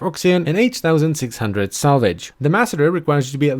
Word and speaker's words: Masseter: released with update 26, and it is apparently pronounced the Masseter.